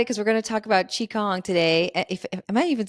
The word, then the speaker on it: Qigong: you I'm excited because we're gonna talk about Chong today if am I even saying that right